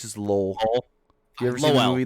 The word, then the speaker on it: Lowell: It's just Lowell. You ever seen the movie The Fighter with Mark Wahlberg? Nope. Oh, yeah. Lowell, Mass.